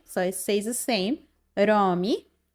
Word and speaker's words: Rami: Rami Rami, just roll the r a bit.